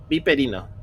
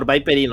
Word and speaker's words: Viperino: How do you say it? Viperino. There you go. Or Viperino, I guess, if you're in English.